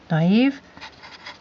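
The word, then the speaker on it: naïve: going to call this naive and actually there's two dots over the eye which tells you pronounce it naive be so and let's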